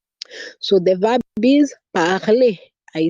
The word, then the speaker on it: parler: I'm saying A because the last letter is an R, and so I pronounce that E, and we saw E is a vowel sound. We saw that letter E, you pronounce it as the vowel sound A. That is why I'm saying parler.